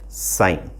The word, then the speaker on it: sin: इसको सिन प्रोनाउंस नहीं करते हैं, इसको प्रोनाउंस किया जाता है साइन.